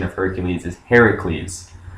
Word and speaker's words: Heracles: um well not correct the correct pronunciation because if you find the stories of him the earliest ones have it written heracles anyways um and i'm